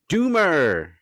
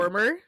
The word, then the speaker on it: Dormer: Um, actor, actress, philanthropist, maybe Natalie Doomer. Did I Natalie say it right? Dormer Natalie Dormer.